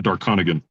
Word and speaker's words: Darconigan: the name but I'm going to try if Dark Conigance is that right? Yeah Dark Conigance.